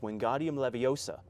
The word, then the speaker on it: Wingardium Leviosa: Dumbledore has confirmed that this famous Bell is pronounced Wingardium Leviosa not Leviosa why does it matter you'll never